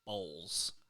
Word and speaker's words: Bowles: the name of Samuel Bowles. Bowles. Spell it, please. Bowles. Bowles. That's not just bowls with an S at the end, it's an ES, so it's got a little bit more of a pronounce.